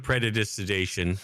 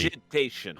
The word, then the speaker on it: Prestidigitation: I do have predigestination, which might help with that. did you I don't know how to pronounce it. It's Poop fine. the shit away. Press- It's like chrono jury. Prestidigitation.